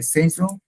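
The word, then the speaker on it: saison: বাংলায় বললে ঋতু, আর ফ্রেঞ্চে বললে সেইজন, আর ইংলিশে বললে সিজন, সেইজন।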